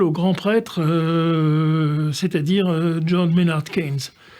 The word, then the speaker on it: Keynes: prêtre, c'est-à-dire John Maynard Keynes. Keynes, vous savez, mais oui, Keynes s'écrivait d'abord, et c'est la prononciation ensuite qui s'est anglicisée, Cahan, C-A-H-A-N-E-S. Et bien entendu, Keynes est un